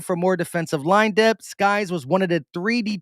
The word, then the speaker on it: Sykes: Hustler said it's pronounced Skies or Sykes. Sykes.